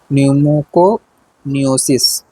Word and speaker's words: न्यूमोकोनियोसिस: इसमें न्यूमोको noesis न्यूमोकोनियोसिस इसका सही उच्चारण है।